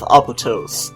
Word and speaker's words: Apotos: time to explore the village of photos I'm pronouncing like that cuz kind of makes me think of Mykonos which is one of the popular places to explore it in Greece so let's begin in